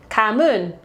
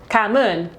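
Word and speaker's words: cảm ơn: And this one's a lot tougher because from our understanding, the pronunciation of this is different in both the South and the North, but it's Kamun, Kamun.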